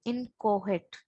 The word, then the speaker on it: inchoate: Hence, it is called inchoate. C is silent.